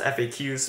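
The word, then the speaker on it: FAQs: to call fun facts I know it's pronounced fa Q's but saying facts allows me to make a pun first question what app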